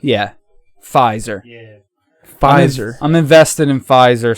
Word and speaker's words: Pfizer: it pophizer vice pfizer the p is silent yeah pfizer pfizer i'm invested in